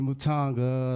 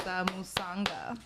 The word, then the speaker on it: Musanga: So, today we have a mental health therapist, Matanga. Let's give a round of applause. Y'all better be clapping, too. You just butchered my name. It's Musanga.